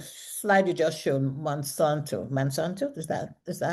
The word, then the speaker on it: Monsanto: other side the slide you just showed monsanto mansanto is that is that how it's pronounced yes Okay, they are the manufacturers of Lysol here.